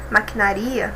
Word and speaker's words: maquinaria: Maquinaria, na verdade, né?